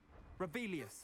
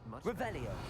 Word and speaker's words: Revelio: Revelius. Saying it wrong. Ugh, Revelia. Revelio.